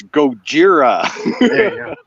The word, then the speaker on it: Gojira: it like she does it's like no it's Gojira it's Gojira oh do you guys